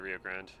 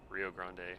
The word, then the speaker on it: Rio Grande: excuse me, where I lived um south by the Rio Grand, Rio Rio Grande, however you want to pronounce it.